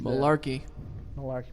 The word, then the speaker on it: Mularkey: Now Mike Mularkey gets brought up, and he's Malarkey. What did I say? You said it right.